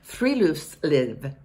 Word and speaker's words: friluftsliv: It's pronounced friluftsliv.